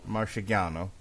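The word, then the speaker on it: Marchegiano: Marciano born Rocko Francis say it again Marciano Marcia gone Oh September 1st 1923 he changed his name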